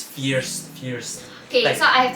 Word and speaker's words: First: But how they pronounce is fierce.